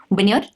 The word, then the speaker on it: vineyard: Vineyard, but not vineyard.